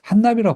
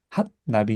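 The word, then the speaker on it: הנביא: 근데 한나비라고 발음하지 않고 사실은 핫나비 이렇게 발음합니다. 한나비. 핫나비.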